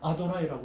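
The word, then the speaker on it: Adonai: 자음만 나오니까. 근데 읽지를 못해. 요드 해, 요드 바브 해 이렇게 나오는데 읽지를 못해. 그걸 아도나이라고 읽어요. 그냥 전혀 다른 발음을 해요. 아도나이, 나의 주님 이렇게 읽어요.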